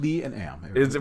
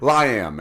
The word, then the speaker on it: Liam: Well, it's proper pronunciation. Lee and Am. Well, thank you, John. I appreciate the support. Liam, actually.